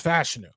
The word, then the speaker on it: Fashanu: Was it Fashanu? Like, it took forever. And from what I'm to understand, it's Fashanu.